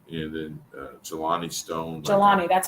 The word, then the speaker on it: Jelani: is and then and then uh Jelani Stone jalani that's how you pronounce it we just want to make sure